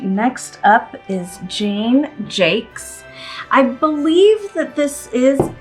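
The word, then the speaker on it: Jaques: think that that is the way that the Brits say it anyway this is Jane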